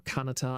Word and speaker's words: Kanata: Is it Kanata or Kanata or Kanata? I can never remember how to pronounce that properly.